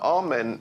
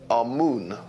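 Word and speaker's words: Amun: important deities was amen now amen is the pronunciation that the Hebrews give it and some Scholars agree to use that pronunciation Amon is the pronunciation given to it by one of the old European scholars plutar in the language of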